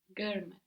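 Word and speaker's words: görmek: we get to learn a new verb GM gmck gmck means to see gmck gmck gmck and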